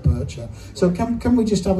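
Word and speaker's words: Boettcher: I never quite understood how to pronounce his name, but I went and checked it the other day, and apparently it's Kurt Bircher.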